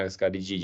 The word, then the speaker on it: Ascarididae: Ascarididae é a pronúncia correta, subfamília Ascaridini e o Ascaris.